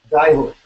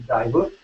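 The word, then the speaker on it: Djehuty: the god Thoth, his other, how is it pronounced now, Evan? It's not just Thoth, we've got that wrong. Dayhut.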